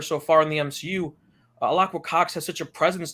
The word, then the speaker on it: Alaqua: It's Alaqua. Alaqua. I've always pronounced it Alaqua, like Alaqua.